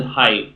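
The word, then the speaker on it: Haidt: like jonathan um jonathan height who we also had on the podcast that's i think that's i'm pretty sure that's how you pronounce his name it's h-i-h-a-i-d-t um but he studies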